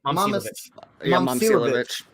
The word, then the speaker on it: Momcilovic: Momcilovic.